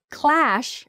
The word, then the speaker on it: clash: words that sound quite similar they are crash clash and Crush Clash crash Crush that's hard to